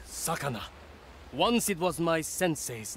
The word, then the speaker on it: Sakana: It is pronounced Sakana.